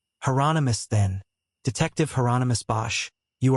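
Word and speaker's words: Hieronymus: Is that heronomous? Bosch said rhymes with anonymous. Heronomous.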